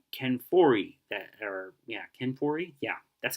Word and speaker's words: Ken Foree: uh you got Ken Foree that her yeah Ken Foree yeah that's how you say his name Ken